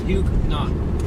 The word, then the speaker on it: Huguenot: Huguenot. Huguenot? Yeah. It's kind of like new Dunkin' shoes. Donuts. Oh, that car. It's like new shoes. Like But huge knots.